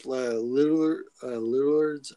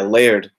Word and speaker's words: Laird: And to get Eastman and like I looked up Lillard's. I can't even say his name. Yeah, Laird.